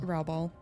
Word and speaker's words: Raubal: Raubal.